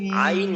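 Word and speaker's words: عين: তাইন গ আইন হ্যাঁ এইটাকে চার আলিফ টানতে হবে হ্যাঁ ভাই আইন গইন চার আলিফ টানতে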